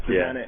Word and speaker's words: Bozanic: Is it Bozanic? Bozanic. It's Bozanic.